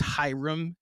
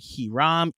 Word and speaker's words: Hiram: Like, it's Hiram, and I've heard Hiram. They dropped the H.